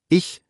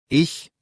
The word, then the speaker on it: ich: Kurzer Tipp zur Aussprache, weil viele da kämpfen. Ich mit weichem CH wie Luft. Und ach mit hartem CH tief im Hals. Ich, ach.